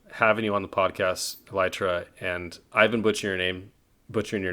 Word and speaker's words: Elytra: been so enjoyable having you on the podcast elytra and i've been butchering your name butchering your name for years so i'm glad we know it's now elytra uh we've you know this is actually my